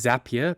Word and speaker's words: Zapier: to which he replied it's zapia because zapia makes you happier that couldn't be any more true because zapia has made me very happy because in my opinion zapia Central is most likely